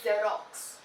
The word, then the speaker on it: Xerox: so though it is an x it is pronounced as the xerox xerox okay so this is not working so